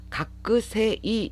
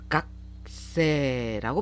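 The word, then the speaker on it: 学生: 각세라고 발음하셔야 돼요. 이 각세, 요 한자어에는 장음화 현상, 초금화 현상 두 발음 법칙이 적용이 됩니다. 세이가 아니라 세를 길게 발음하셔야 돼요. 그래서 각세라고 발음하시는 거 주의해 주시고요.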